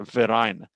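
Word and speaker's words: Verein: of German is a verine the V is pronounced like an f and this verine sort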